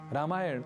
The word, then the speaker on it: रामायण: और हाँ, अंग्रेजी के उच्चारण का रामायण और महाभारत में उपयोग बिल्कुल भी न करें। यानी रामायणा, महाभारता ये भी हमें नहीं बोलना।